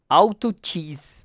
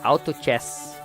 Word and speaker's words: Auto Chess: Auto Cheese. Para quem gosta de xadrez... Chess, na verdade, Auto Chess, que é a pronúncia correta.